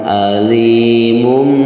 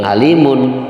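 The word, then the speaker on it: أَلِيم: Jadi cara membacanya walahum azabun alimum bima ya bukan alimun tapi walahum azabun alimum ya.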